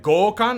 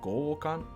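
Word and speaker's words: 強姦: of my seat holding my breath so anyway goal Khan that's how you pronounce it gokan do I love this too I oh boy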